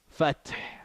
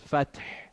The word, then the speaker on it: الفتح: If we were to say, and this ha I said is not pronounced, right? If you were gonna say, or this one, إذا جاء نصر الله والفتح. Fath, right?